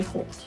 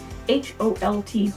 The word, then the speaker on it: halt: both author and narrator everybody came to a halt so repetitive for the author everybody is coming